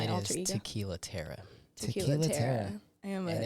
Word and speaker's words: Tiera: Terra or terror? No, How it's about that? Terra. Terra. Like Terra, T-A-R-A. yeah, but it's like Terra, but Gotcha. it's like Terra. terror. You got to say it like with a Terra.